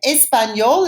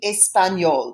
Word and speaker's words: espagnol: And espagnol is pronounced the same in French as in Spanish. Parler espagnol, to speak Spanish.